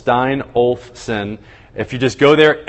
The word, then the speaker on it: Steinolfson: Everybody, it's 3 syllables, Steinolfson.